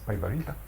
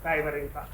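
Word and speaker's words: Päivärinta: Paivarita. Okay. I know that there's a contingency of people here who will pronounce it way better than me. I pronounce it Taivarinta. Okay. I am Taivarinta.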